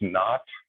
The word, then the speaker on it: naught: it that's a zero which is often pronounced not not not the negative but the old english term nau ght the old english term for zero uh so x naught